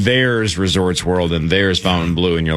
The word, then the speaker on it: Fontainebleau: Fontainebleau.